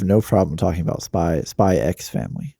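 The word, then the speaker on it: Spy × Family: spy spy x family well it's technically spy family but spy x family is the the actual title yeah well that's why i said spy x fan so how does that work anyway why because there's a lot of the x titles that have x in them like that the x is just silent so but why is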